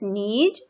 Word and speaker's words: knees: नी, नी में के साइलेंट है, KNEES नीज।